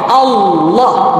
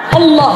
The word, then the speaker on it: Allah: Lakin fi halat al-lafdul jalala, in this case, because the name of Allah, Allah, we have to pronounce him with the heavy wave for the lam. Okay? Tamam? Allah, Allah.